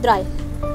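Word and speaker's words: drei: then wound and then three is called dry you have written in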